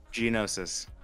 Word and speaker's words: Geonosis: Much like the old school corruption from FOC, and going straight to I can't pronounce this name. What was it again? Geonosis.